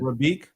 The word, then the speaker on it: Rafiq: Rafiq? It's Rakib. Rafiq. Rafiq.